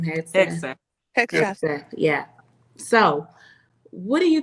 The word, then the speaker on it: Hegseth: Hegseth, yeah.